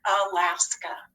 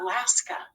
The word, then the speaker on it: Alaska: alaska when you have a in an open syllable at the beginning of a word or at the end of a word it doesn't have the expected long a sound it says more of an uh alaska that's an open syllable